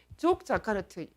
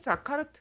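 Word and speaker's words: Yogyakarta: 그 계기가 되는 것이 족 자카르트 뭐 자카르트라고도 발음합니다. 족 자카르트 원칙이라는 것입니다.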